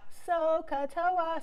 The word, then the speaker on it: SOHCAHTOA: know about sohcahtoa so sokata has three syllables the first syllable is so s is sine o and h is opposite over hypotenuse k is the second syllable which is cosine um adjacent over hypotenuse and then lastly is toa toa is the last syllable that's tangent which is